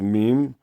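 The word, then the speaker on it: ميم: baby lamb uh meme the sound of meme is going to be m-e-e-m so noon is like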